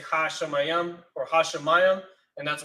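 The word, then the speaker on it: שמים: My help from Yahweh, who made, and then you have Shamayim, or Shemayim, as we pronounce it sometimes, H8064, which means heaven.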